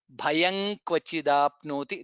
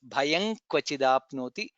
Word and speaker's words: भयं क्वचिदाप्नोति: Bha is mahaprana, then anuswara followed by ka, hence it will be ka kha ga nga nga. Bhayang kvachidapnoti, that's how it is pronounced. Bhayang kvachidapnoti.